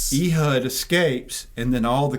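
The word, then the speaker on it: Ehud: And so when Ehood, how do y'all say his name? Ehood. Ehood.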